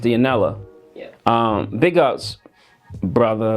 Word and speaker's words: Dionela: I want to say Dionela, but it's pronounced Dionela.